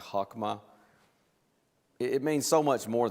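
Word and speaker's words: חכמה: range of it there the Hebrew word I'm told is pronounced something like hakma it means so much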